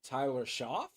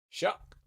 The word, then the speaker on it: Shough: first heard of him, I was like Tyler Shough? But no. S H O U G H Shuck.